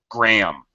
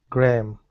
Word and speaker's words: Graham: Graham. It just Just like the measurement gram. Graham.